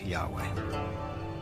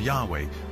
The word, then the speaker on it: Yahweh: these four letters which in English would be yhw H which we think were probably pronounced something like Yahweh but Yahweh only appears